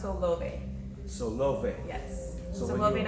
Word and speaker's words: Solove: People, love me, so they like to call me Solove, but it's actually pronounced Solove.